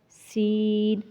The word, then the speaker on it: س: طا، اسی طرح ثا، سین، صاد۔ اب کیا ہے، تا کو نرم، سین کو سیٹی کی آواز والا، اور صاد کو موٹا۔ اب یہ تینوں کے